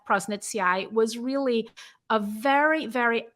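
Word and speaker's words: Faecalibacterium prausnitzii: prosnitzi, am I pronouncing that correctly? Prosnitzi, yeah. It's Prosnitzi. Prausnitzii.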